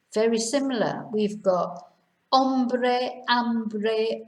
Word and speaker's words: hambre: Hambre, hunger. Hombro, shoulder. So they couldn't be much more different, really. So remember not to pronounce H.